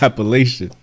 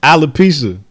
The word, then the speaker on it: alopecia: Call this shit Appalachian. How you say it? Alopecia.